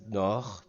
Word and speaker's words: nord: You never pronounce it like it reads, so it's pronounced Nord, ignore the D.